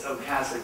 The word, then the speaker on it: Otcasek: So that last name is Otcasek, that T is silent.